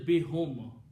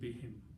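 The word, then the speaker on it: بهم: Okay, so it is still bihum. But for tajweed we are pronouncing bihim.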